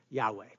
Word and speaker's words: Yahweh: And so because of the modern vowel markings and the ancient consonants, we get the pronunciation Yahweh.